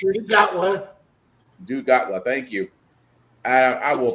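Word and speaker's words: Gatwa: I love I love Nagawa, Mr. Nagawa. It's Dotawa. Dotawa. Thank you. I will pronounce his name one day.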